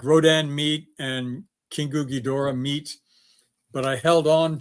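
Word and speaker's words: King Ghidorah: Hey, Richard, I love the way you pronounced Kingu Ghidorah. That's the way it should be pronounced.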